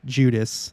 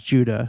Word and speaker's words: Judah: you're listening to this I'm not adding the S at the end that's how it's written Judas that's what he's saying um he means Judah of course he's just an alternate pronunciation uh Moses Ezekiel Amos